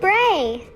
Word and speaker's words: BRAE: and what we have welcome to bray hey that rhymes with yay i'm bibi bray's special